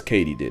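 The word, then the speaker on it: katydid: completely butchered that where it turns out it's katie did yeah katie do it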